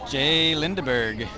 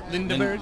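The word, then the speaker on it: J.Lindeberg: Lindeberg. Yeah. It depends on where you live. Yeah. If it's in Sweden.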